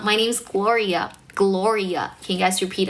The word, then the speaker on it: Gloria: My name's Gloria.